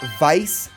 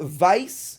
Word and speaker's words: Weiss: is going to be Vice tiger and before I get any YouTube comments it is vice not Weiss it's German it's just how it's pronounced vice vice tiger is the